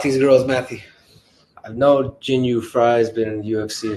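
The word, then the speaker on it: Jinh Yu Frey: Victoria Dudakova versus Jing Jun Frey. Am I saying it right, guys? Or am I being? Jin Yu Frey.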